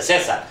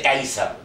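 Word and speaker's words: Caesar: Entonces, que verdaderamente en latín no se dice César, se dice Kaisar.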